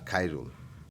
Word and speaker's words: খায়রুল: খায় রুল, আমি খাই না, খায়, খায় রুল।